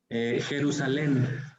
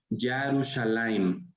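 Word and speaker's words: ירושלים: Jerusalén. Jerusalén también está mal. Incluso está medio mal pronunciado también por los mismos judíos, nuestros hermanos judíos. El nombre original de Jerusalén es Yarushalayim.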